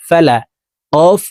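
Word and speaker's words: الفلق: ফালা কফ জেরি ফালাকি কফ যেহেতু কলকলার হরফ উপরের দিকে ধাবিত করে ধাক্কা দিয়ে উচ্চারণ করতে হবে তো এখানে দেখুন ওয়াকফ আছে তো এই ওয়াকফুর ক্ষেত্রে সাকিন করে ফেলবো উপরের দিকে ধাবিত করে ধাক্কা দিয়ে সাকিন করতে হবে বিরব্বিল ফালাক বিরব্বিল ফালাকুল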